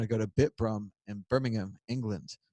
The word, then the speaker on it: Birmingham: And then 2 weeks after that, we're going to go to Bitbrum in Birmingham, England, not Birmingham.